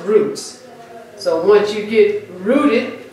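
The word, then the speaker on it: רוץ: And it's interesting that the Hebrew word run, I will run, is a Hebrew word roots. R-U-W-T-S, pronounced roots.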